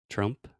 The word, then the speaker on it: Trump: Yeah, so President Trump. President Trump. Yeah, obviously I wouldn't say president. I would say President President Trump. Trump. And Trump is another great example of schwa.